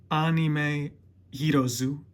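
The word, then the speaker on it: アニメヒーローズ: It says Anime Hirozu. Apparently that's how you say it in Japanese.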